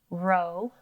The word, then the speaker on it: robot: What's interesting about the word robot is it starts with an open syllable, R-O, and it ends with a closed syllable, B-A-T, robot. There are two O's, but they're making two different O sounds. Ro, O, O, bot, ah, ah, ah.